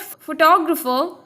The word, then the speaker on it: photographer: in this case photograph in the word photographer there are Force labels and the second one is stressed in this case photographer in the word photographic